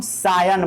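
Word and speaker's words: scion: बट इसको सायन नहीं पढ़िएगा, ठीक है, इसको पढ़िए एस्कियन। क्या पढ़िए, एस्कियन, एस्कियन, ताकि आपको स्पेलिंग याद रहे। बट इसको ओरिजिनली हम पढ़ते हैं सायन, बट याद रखिएगा एस्कियन।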